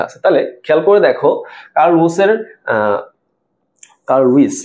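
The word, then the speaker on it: Carl Woese: তাহলে খেয়াল করে দেখো কার্ল উইস না এরকম একটা উচ্চারণ হওয়া উচিত।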